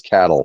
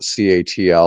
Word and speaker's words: CATL: company uh that we the Nebraska pronunciation is cattle folks so if you're from Nebraska you call it cattle if you're from California you might call it catl or something else but